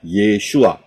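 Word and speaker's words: ישוע: paling kiri adalah Ayin Yod Shin wau Ayin itu bacanya yesua Ya kalau saudara lihat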